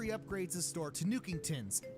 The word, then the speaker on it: Nookington's: There's also a new beauty salon added to Tom Nook's store after he upgrades his store to Nookington's. And yes, that is the correct way to pronounce it.